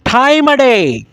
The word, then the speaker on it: this time of day: तो आज का जो रिदम है टाइम ऑफ डे को आपने प्रोनाउंस करना है टाइम अ डे, दिस टाइम अ डे, दिस टाइम अ डे I teach spoken English.